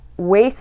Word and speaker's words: waste: 자, waste my time. 자, waste 뒤에 t가 잘 들리지 않아요.